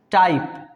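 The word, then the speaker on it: type: टाइप, ई नहीं पढ़ेंगे, टाइप, है ना?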